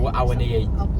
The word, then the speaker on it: Awoniyi: Taiwo Awoniyi, I can't pronounce his name. Awoniyi.